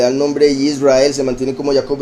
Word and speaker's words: Israel: Ajá, sí, por eso es que hay personas que lo pronuncian Yasharel, en vez de decir Israel, dicen Yasharel, que es Yashar, el justo o el recto del poderoso.